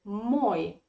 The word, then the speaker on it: мой: look there is the stress in the word moy the stress is on o in the word